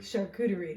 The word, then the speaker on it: charcuterie: real name because I don't know how to pronounce it. Charcuterie.